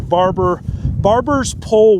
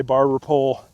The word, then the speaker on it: barber's pole: That's the main culprit with small ruminants is going to be your barber's pole worm, I believe is how you technically pronounce it, barbers with an S. Most people just say barber pole.